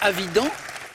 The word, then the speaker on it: Avidan: arthur israélienne ouais asaf avidan pense qu'on prononce avidan pas vide oui évident qui a